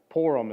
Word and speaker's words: Purim: same it's uh purim purim is how this is pronounced okay pour them right like pour them another you know pour them okay um but so